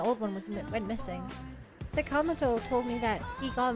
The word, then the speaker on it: Sakamoto: I know I shouldn't call it Sakamato, but like after pig five, I can't bring myself to say Sakamoto. I wasn't going to correct you, but yeah, I've listened to it pronounced incorrectly for so long.